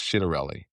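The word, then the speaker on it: Ciattarelli: Now I'm told I was told by someone this morning that his name is actually pronounced Chidarelli.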